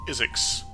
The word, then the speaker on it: Isix: Hello there and welcome back to Kerbal Space Program with ISIX. Me and yes, it's pronounced Isix like physics.